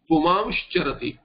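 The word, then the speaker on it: पुमांश्चरति: If you see puman charati, it will become pumamsh charati, because chakara will be preceded by an anuswara or an anunasika and a shankar shakara.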